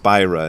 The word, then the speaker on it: Spira: it was muho said he thinks that the guy's name should be pronounced spyra instead of Spira I don't know s-p-i-r-a